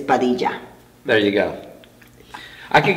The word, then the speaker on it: Padilla: So they always say Padilla, but it's Padilla.